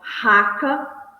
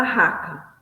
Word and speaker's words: raca: Se olha como se pronunciava a palavra raca. se pronunciava guspindo e virando o rosto para o lado. Então, se guspia, falava raca, guspia e virava o rosto para o lado.